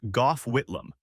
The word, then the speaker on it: Gough Whitlam: Back in the 1970s, we had a prime minister named G A, pronounced Gough Whitlam.